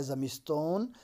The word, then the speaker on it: زمستان: زمستون، زمستون ہے تو یہ زمستان ہے تو اس کو تلفظ زمستون کرتے ہیں. اسی طریقے سے میدان ہے تو میدون تلفظ کرتے ہیں. اسی طریقے سے تابستان ہے تو تابستون تلفظ کرتے ہیں. یہ ایرانین کا اپنا ایک الگ ان کا بولنے کا انداز ہے. تو لہٰذا آپ یاد رکھیں گے کہ زمستان ہے تو زمستون پڑھنا ہے.